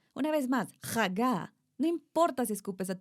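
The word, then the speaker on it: הגה: En hebreo es la palabra Hagá. Repitan conmigo, Hagá. Esta es una de las palabras que se pronuncia con la garganta. Una vez más, Hagá.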